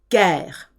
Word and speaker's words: guerre: G followed by E or I. E and I soften the G. So to get a hard G with an E and an I, they have to insert a U. So guerre is spelled G-U-E-R-R-E. Otherwise it would be a soft G.